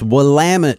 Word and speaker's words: Willamette: south of what is now Portland Oregon its Willamette dude you got that wrong remember we were